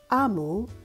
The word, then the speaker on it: Omu: author's note explains that AMU pronounced AMU means Queen in the Igbo language of her parents but growing up she